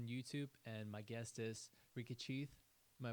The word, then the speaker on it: Ricky Cheath: this goes on YouTube and my guest is Ricky chath am I pronouncing it right yeah Ricky chath awesome awesome um how's your day it's been